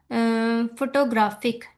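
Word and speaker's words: photographic: अब ग्राफिक पे हमारे पास, ग्राफ वर्ड पे, ग्राफ पे हमारे पास प्राइमरी स्ट्रेस है, बिकॉज देखिए सबसे ज्यादा लॉन्गर प्रोनाउंस किया जा रहा है। एंड तो जो फर्स्ट है हमारे पास फो, इस पे हमारे हम लोग कहेंगे कि टर्शरी स्ट्रेस है, बिकॉज इसको हम लोग बहुत लाइटर प्रोनाउंस कर रहे हैं, ओके।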